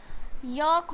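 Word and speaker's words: yolk: उसी तरीके से वॉक हो जाएगा, एंड चॉक हो जाएगा, यॉक हो जाएगा, एंड फॉक हो जाएगा। ओके, क्योंकि एल साइलेंट करना है।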